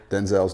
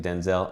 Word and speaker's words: Denzel: Denzel's not correct? In fact, most people have been pronouncing it Denzel, and it's Denzel. My name's not pronounced Denzel. My name's pronounced Denzel.